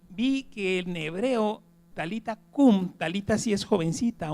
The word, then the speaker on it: Talita cumi: la segunda que es talita cumi así se pone en en griego se se pronuncia así talita cumi pero el en hebreo es talita cum talita cum y talita